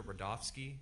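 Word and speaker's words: Rudofski: okay special agent rodofsky that's r-u-d-o-f-s-k-i and it's pronounced Rudolph and then ski how you doing today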